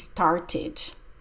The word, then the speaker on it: started: started school last Monday the past start is started sounds like Ed started he started school last